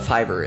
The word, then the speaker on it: Fiverr: It's Fiverr, like the number 5 with an extra R.